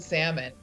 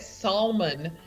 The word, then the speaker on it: salmon: she keeps calling it salmon and we're like exactly pronounced salmon you don't really say the l and she's whenever and